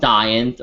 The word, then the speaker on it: Saiyan: But I'm like, it's, you know, and just like the Saiyans, I'm like, they're not called Saiyans, and they're called Saiyans or Saiyajin.